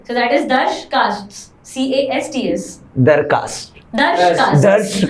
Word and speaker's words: Darsh Casts: So that is Darsh Casts. CASTS. दरकास्ट, Darsh Casts. दर्श कास्ट। Yes. A bit difficult to pronounce, challenging, but interesting.